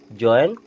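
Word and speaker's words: join: बोल दिया करते हैं लेकिन जो इसका प्रोनंसिएशन होता है वो होता है जॉइन इस प्रकार से अगर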